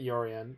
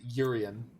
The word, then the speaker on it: Yorion: The pronunciation that I find ridiculous for Yorion that I've heard is Urian. Urian. Urian. I don't know how people got to that one, but Shiryan.